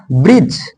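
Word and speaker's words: bridge: silent रहता है जैसे ब्रज ब्रिज बी आर डी जी इसको बोलेंगे ब्रिज ब्रिज ब्रिज मींस पुल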